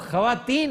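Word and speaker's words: خواتین: तो सर खवातीन को तो खातीन नहीं कहते, वो खवातीन है। खवातीन इज नॉट पर्शियन, ये टर्किश वर्ड है।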